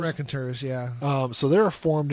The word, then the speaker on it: Raconteurs: The Raconteurs? Raconteurs, yeah.